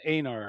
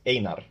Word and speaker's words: Einar: So it's Einar, and I was saying Einar. Sorry about that. Yeah, you're correct. Einar.